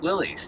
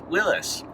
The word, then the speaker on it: Willys: and you might remember seeing a few jeep willies now i say jeep willie's but apparently according to wikipedia it's pronounced willis didn't know that anyway i also learned that